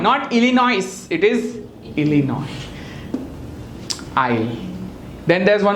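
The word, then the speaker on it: Illinois: in America called इलिन what is it called इलिनॉइस नॉट इलिनॉइस इट इज इनोई oil then there is one place called आर्कंस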